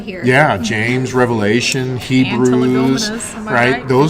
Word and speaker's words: antilegomena: Antilegomas. Ooh, see, you know some of the I big use that words. right? Yeah. No, wait, well, Antilegomena? Yeah. Yeah, no, you said it right.